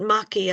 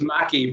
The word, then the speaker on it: Mackay: And we've seen it's Mackay, not Mackey. Am I mispronouncing your name? No, I don't take any offence. You know, it's Mackie, but it's yes, it's Mackie, yes.